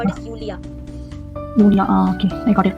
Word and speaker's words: Julia: In English we pronounce it as Julia, but in German we call it as Julia.